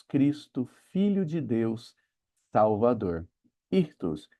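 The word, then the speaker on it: ΙΧΘΥΣ: Ali está escrito ictus ou irtus, que são também as iniciais da frase Jesus Cristo, filho de Deus, salvador. Irtos e era um símbolo muito importante pros cristãos.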